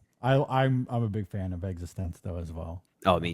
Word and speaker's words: eXistenZ: Existenz, yeah. That's how they say it in the movie.